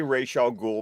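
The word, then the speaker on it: Ra's al Ghul: determine um yeah I call I I say Rachel ghoul because that's what Denny O'Neal says I've heard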